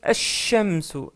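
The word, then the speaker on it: الشمس: Pareil pour shamsun, on prononce ash-shamsu. Ash-shamsu. Le L, il est muet.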